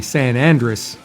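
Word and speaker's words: San Andrés: the differentation is key it's spelled San Andreas on the secondary band but it uses a San Andress Leaf so and that is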